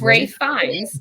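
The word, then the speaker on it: Ralph Fiennes: I believe his name is pronounced Ray Fiennes. Yeah, it's always spelled Ralph, but it's always pronounced Ray.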